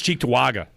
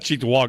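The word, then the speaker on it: Cheektowaga: No, it's Cheettoaga. Right. Not Chewaga.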